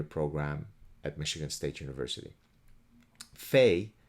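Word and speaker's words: fae: at michigan state university fey fair and fairs fey is spelled f-a-e-f-a-e-r and e r f-a-e-r-s i don't know about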